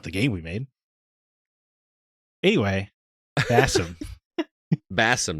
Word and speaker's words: Basim: game we made anyway Bassam Bassam not Basim because I I did I was like oh it seems like it would be pronounced bassim but they pronounce it bassum yeah yeah I guess